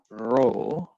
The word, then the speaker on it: rho: is a greek letter it is spelled rho and pronounced row okay resistivity it is